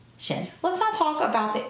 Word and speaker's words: Zhen: line on top, and it's pronounced Zhen Palace. Z-E-Z-H-E-N, Zhen.